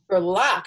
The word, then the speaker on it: Gerlach: it Rita glic gerlock gerlock okay it's just the way get spelled okay gerlock I know it's been it's been pronounced a lot of different ways believe me like garlic it's yeah it's girl okay all right great